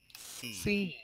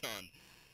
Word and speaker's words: Sean: Everyone, for those of you who don't know, the proper pronunciation for my name is Scene. No, it's Sean. It's an Irish spelling.